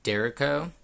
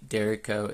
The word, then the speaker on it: Derecho: I've heard it pronounced both ways, but I'm just going to call it the Derecho.